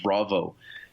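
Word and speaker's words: Vravo: is a company called Bravo it's like Bravo but spelled with a V so VR AVO comm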